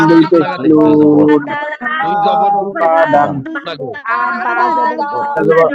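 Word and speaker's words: أَبَدًا: হরকত এবং তানউইনের উচ্চারণটা তাড়াতাড়ি পড়তে হয়। হামজা জবর আ, বা জবর বা, আ বা, এরকম যদি কেউ পড়ে তাহলে তার ভুল হয়ে যাবে।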